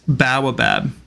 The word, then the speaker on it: baobab: It's Baobab.